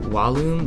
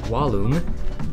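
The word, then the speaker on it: vallum: life next we have wallum which will be a really easy for you to remember if you can just remember to pronounce the V like a w w wallum means wall or Rampart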